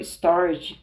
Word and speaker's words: storge: gregos denominavam esse amor stor duas sílabas e um G com pronúncia forte eu o chamarei aqui